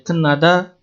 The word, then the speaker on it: 끝나다: Yang terakhir ada 끝나다, dibacanya kenada.